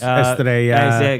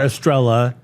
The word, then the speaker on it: Estrella: He drinks Estrella or Estrella. Cucurella, because they refuse to say the ya for the two L's. When the Spanish say it, they don't say it like that.